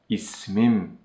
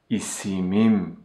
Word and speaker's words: ismim: The last vowel of the original word is omitted, and it becomes ismim, ismim. Now you can also try. Pronunciation of ismim, ismim is much easier than isimim, isimim.